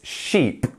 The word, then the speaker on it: sheep: pushing our cheeks outwards sheep sheep instead of ship which would be very easy to accidentally say ship you want to say sheep sheep keep that e for a bit longer now we're going to